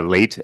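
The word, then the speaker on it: Laite: And could you um please repeat the pronunciation of your last name? I didn't write it down. It's uh late.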